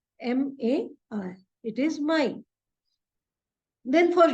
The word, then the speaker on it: Mai: But we'll pronounce it as April because A is pronounced as A in German. So it is April. For May, it is Mai, M-A-I.